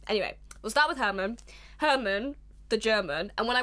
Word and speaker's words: Hermann: we'll start with Herman Hermann the German and when I was reading a load of all of these essays people kept referring to him as just German but spelled like Herman like with a double